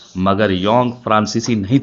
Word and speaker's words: Jung: अच्छा याद करो, JUNG, योंग। बहुत से जाहिल इसे जंग पढ़ते हैं और कुछ जोंग।